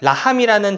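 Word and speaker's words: לָחַם: 있어요 근데 재밌는 건 히브리어로 싸움이라는 라함이 있는데 라함이라는 단어와 빵의 뜻인 레헴이라는 단어가 철자가 똑같아요 여기 점을 찍어서 어떻게 발음하느냐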